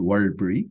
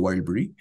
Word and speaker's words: Warlpiri: In the words, and Pijanjara, Warlpiri is the one that I'm working on, so the fourth line, so Warlpiri is pronounced Warlpiri or Warlpiri.